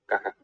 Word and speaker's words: caja: Creo que me preguntabas cómo se dice caja. Yo diría así, caja.